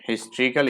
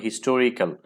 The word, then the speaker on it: historical: টু a place of হিস্ট্রিক্যাল interest. এখানে তোমার অনেকে উচ্চারণ করে থাকো হিস্টোরিক্যাল, কিন্তু উচ্চারণটা হবে হিস্ট্রিক্যাল।